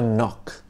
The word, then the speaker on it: knock: wrong k is for knock yeah the k is silent but it's the perfect opportunity to tell a knock knock joke knock knock